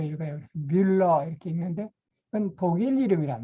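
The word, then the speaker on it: Müller: 그 유에 이 위에 점 2개 있는 걸 우물아우트라고 하는데, 그 위 이렇게 발음으로 읽어요. 그래서 뮬러 이렇게 읽는데 그건 독일 이름이란 말이죠.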